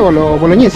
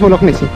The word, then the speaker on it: Bolognesi: aquí está casa boloñes se pronuncia boloñes No no es bolognesi acá está casa ahor